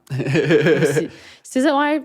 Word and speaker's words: SZA: SZA, c'est même pas le prononce?